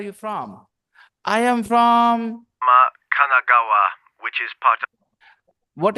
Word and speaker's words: Kanagawa: I'm from Yokohama, Kanagawa. I am from Yokohama, Katagawa. Kanagawa. Kanagawa. Renu is laughing. I didn't pronounce it correctly.